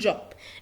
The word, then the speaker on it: Job: احنا كلنا عارفين ان اليوت ان الحرف ده بيتقرا ي تمام. ولكن انا بقولها job عادي زي في الانجليش. ليه؟ عشان هي الكلمة متاخدة من اللغة الانجليزية، فاحنا بننطقها job عادي.